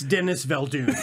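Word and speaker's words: Denis Villeneuve: i think it was i think it's pronounced denis ville dune right the neville dune i think that's right yeah get it it's dennis valdoon yeah so we nominated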